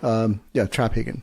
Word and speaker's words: Traphagen: So the P and the H is so accent on the first syllable. Got it. No, it's great because I always know when it's a telemarketer. They suicide the name. Yeah. But Traphagen is how to say it.